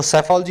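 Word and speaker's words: psephology: पी इसके शुरू में आएगा जो कि साइलेंट होगा, देख लेना पी कहाँ आ रहा है, शुरू में आ रहा है, और पी क्या है? साइलेंट है यहाँ पे, तो सेफोलॉजी इसको बोलते हैं।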